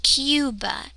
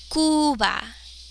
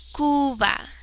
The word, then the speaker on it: Cuba: Cuba. You. We pronounce this kind of like you. Cuba. You. But in Spanish, remember, sticking to the 5, U. U. U. So this would be Cuba. Cuba.